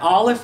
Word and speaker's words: Aleph: Now, what's interesting about the Hebrew letter Aleph is that Aleph is silent. Yeah, Aleph makes no sound, period.